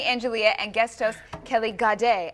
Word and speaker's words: Gade: We have Henny Angelia and guest host Kelly Gade, as in ballet, with us today.